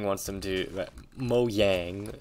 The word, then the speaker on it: Mojang: vibe i get that mojang wants them to mo yang i believe it's how it's pronounced but i believe that